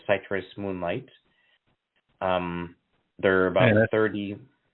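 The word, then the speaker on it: Cytrus: adulthood, which is called Citrus Moonlight. They're about 30. That's spelled C-Y-T-R-U-S. C-Y-T-R-U-S. Citrus. Yeah, citrus, not citrus. Some people make that mistake.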